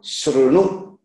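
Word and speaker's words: शृणु: But actually, the that is a independent swara, a, e, u, r. That is the correct pronunciation. R. So shrunu. That's the correct one.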